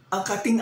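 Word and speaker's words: angkating: Kung gaano na ang dapat na ang kating asukal.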